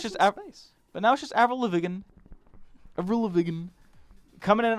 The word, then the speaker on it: Lavigne: Avril Lavigne with the silent E at the end that turns it into a completely different phonetical structure. But now it's just Avril Lavigne.